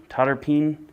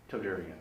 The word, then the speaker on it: Todarian: I believe it was Totterpeen. Todarian. There you go. Todarian.